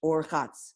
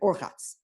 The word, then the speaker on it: Urchatz: And if you didn't have the Vav, it would be Rechatz. It would be an awkward word to say. It wouldn't flow in the rhyme. So we have to put an extra syllable, and therefore they added the Vav to give it Urchatz.